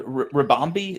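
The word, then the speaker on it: Ribombee: Loved Rabambi.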